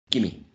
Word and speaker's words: gimme: We don't see a schwa. We see a long E. A long E that is shortened. E becomes E. The same quality, the same height, the same position, right? E, but shorter.